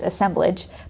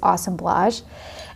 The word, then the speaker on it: assemblage: an awesome blush and my husband always made fun of it because it's assemblage but the actual pronunciation of it is awesome blush and it's basically like